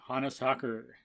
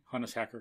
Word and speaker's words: Hannes Hacker: again talking about engineering with the veteran engineer hannah soccer honest hacker sorry i need more food otherwise i would pronounce it right the first time sorry honest